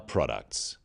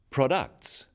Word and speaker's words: products: The wrong stress makes it hard to understand. So, conclusion, not conclusion. Products, not products.